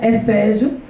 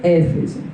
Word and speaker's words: Éfeso: Tem gente que pronuncia Efésio e tem gente que pronuncia Éfeso.